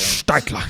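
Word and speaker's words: Staedtler: you pronounce it yeah schadler how do you pronounce it Stadler Stadler Stadler Statler actually Statler my it's broken eringer is served um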